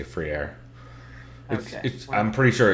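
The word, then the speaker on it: Freire: pitball brother's last name i always would say friday or friday because i know how to say it free air yeah it's like yeah it's it's kind of free air but like that's also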